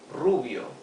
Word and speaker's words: Rubio: Negros Black Cabo hair Rubio for blonde remember to pronounce the r with a rough sound R okay Ru because